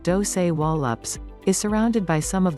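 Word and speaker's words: Dosewallips: era ranch dozerlips river valley this narrow valley pronounced doce wallops is surrounded by some of the highest mountains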